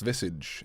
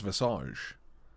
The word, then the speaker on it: visage: I learned today that visage is only pronounced visage and not visage, like I thought it could also be pronounced as.